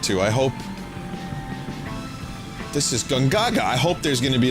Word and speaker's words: Gongaga: It turns out we've been pronouncing it wrong this whole time. It's pronounced Gongaga.